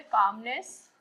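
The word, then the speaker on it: calm: ना सेरेनिटी का मतलब है कामनेस। शांति। काम यानी शांत। सी ए एल एम। काम का मतलब होता है शांत। एल साइलेंट होता है।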